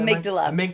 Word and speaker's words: amygdala: And on your bio, you mentioned, now tell me if I'm pronouncing this right, that you're a big, is it amygdala fan? Is it Amygdala.